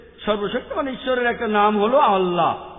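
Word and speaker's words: Allah: ঈশ্বরের একটা নাম হলো আল্লাহ লেখা হয় আই এল এ কিন্তু উচ্চারণের সময় শব্দটাকে বলা হয় আল্লাহ আশা করি উত্তরটা পেয়েছে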